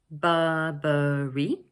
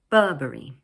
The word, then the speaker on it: Burberry: This word is made up of 3 syllables, Burberry, with the stress placed on the first one, Burberry. Notice that in British English, the middle R sound is not usually pronounced. So instead, we lengthen the vowel sound. So we say Burberry, Burberry.